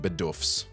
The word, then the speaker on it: Bidoof: Twitter melted down, memes flew faster than quick attack, and fans demanded justice for their missing Bidoofs. I know it's technically pronounced Bidoof, but um I can't stop saying Bidoof.